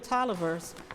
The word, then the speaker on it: Taliaferro: Booker Tolliver Washington, his middle name is pronounced the same but it's spelled differently.